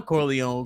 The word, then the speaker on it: Corleone: I hope that Corleone ain't in reference to Don Corleone because the E is silent.